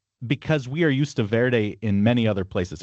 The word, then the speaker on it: Verde: But then we have the spa uh Portuguese who had taken over the land and basically or you know settled the land pronouncing it ver and then we have English speakers hearing that and then pronouncing it without the e is what I think happened.